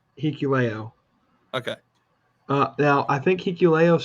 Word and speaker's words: Hikuleo: Is it Hikalo? Is that how you pronounce it? Hikuleo.